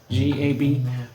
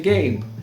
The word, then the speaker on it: GAB: G, A, B for gab. If you like to pronounce it differently, you could say Gabe.